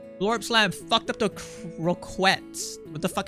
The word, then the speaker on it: croquette: It's pronounced croquet. Sounds stupid. Is it French?